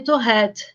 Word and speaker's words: Tourette: a senhora me falar o nome correto é síndrome de tourette porque vem do francês né então o número